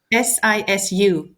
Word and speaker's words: sisu: I I'm I am stuck on that word ciu if I pronounce it right. I really I really love it. Um, si is it sisi or s i su?